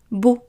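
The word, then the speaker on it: بُ: And the example here is the letter ba with damma is pronounced bu, bu.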